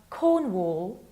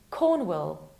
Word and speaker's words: Cornwall: And the last one has two potential pronunciations. The more popular Cornwall or Cornwall.